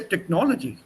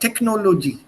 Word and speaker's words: technology: Technology, that's in English you will say technology, not technology.